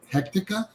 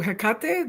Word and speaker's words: Hekate: He Hea, did I say it right? Who? Hekate, the Greek goddess.